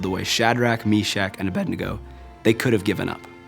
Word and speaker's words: Abednego: Abednego. That's how you say it. Abednego.